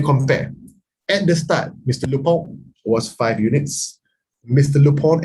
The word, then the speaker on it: Lupin: ratio before uh mr lupin actually it's not lupin no it's actually french the pronunciation is lupon lupone is five brother is